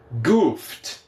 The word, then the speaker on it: goofed: Goofed, goofed.